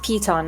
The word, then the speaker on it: piton: It's actually pronounced Piton, I just found out.